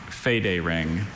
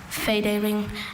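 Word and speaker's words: federing: So make sure you get that right vowel sound in the first. Should we repeat it one more time? Fade ring. Fade ring.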